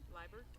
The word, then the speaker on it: Liebert: Liebert? Liebert. Thank you. Thank you. All right, lineup change just being told to us as Chloe Werner comes in to bat, and on deck will be Katie Liebert batting for Allie Paulson.